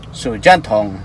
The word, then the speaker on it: 手电筒: Ang pagka-pronounce is Sujanthong.